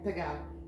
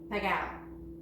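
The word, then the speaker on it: pegao: Pagao. Pagao.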